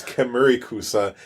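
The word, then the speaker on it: Kemurikusa: It's Kemerikusa, and it's Yayorozu, which you should know because it's the name of a character of My Hero Academia, Momo.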